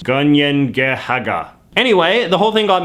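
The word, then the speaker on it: Kanien'kehá:ka: The Mohawk name for their nation meanwhile is pronounced Ganiengehaga.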